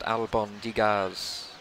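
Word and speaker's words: albóndigas: kangaroo for telling me that Albin digas is pronounced alabang digas Oh Nigel has the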